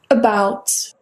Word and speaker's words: about: এই শব্দটা উচ্চারণ হচ্ছে About.